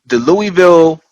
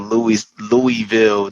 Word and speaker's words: Louisville: Um, so the Louisville, it was, by the way, I just found out Louisville, the S in Louis is silent, which is very weird to me.